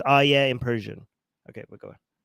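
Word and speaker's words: آیه: Somebody's saying it's ayat, not ayah. Okay, I am Persian. Okay, so I am pronouncing it in Persian.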